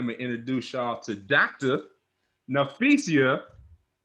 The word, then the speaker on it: Nafisa: Nafisa. How you doing? Did I say your Hi, name right? Did I say your name right? It's Nafisa, right? Nafisa.